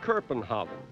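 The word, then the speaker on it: København: He named it Kerpenhaven, and the Danes now call it Kerpenhaven. The Germans pronounce it Copenhagen, and in English it's Copenhagen.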